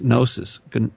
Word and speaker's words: Gnosis: Gnosis, it's spelled with a G.